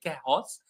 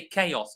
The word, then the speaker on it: chaos: Let me just explain very simply because in in answer C there is a H a sound that does not exist. We don't say chos, we say chaos.